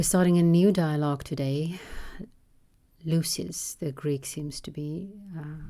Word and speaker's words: Lysis: It is a Y, Y in Dutch. Lysis, I don't know. I'm just going to say Lysis. Lysis. The accent is on the U, Ypsilon in the Greek.